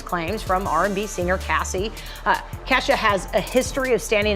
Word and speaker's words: Kesha: Get my Kesha. I said her name wrong. Kesha.